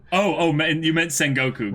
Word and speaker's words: Sengoku: wrong you meant that no no I meant Sengoku Oh oh man you meant Sengoku right because because I feel like that's the